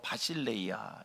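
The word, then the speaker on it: βασιλεία: 심령 천국을 헬라 말로 원어로 바실레이아 이렇게 발음을 합니다.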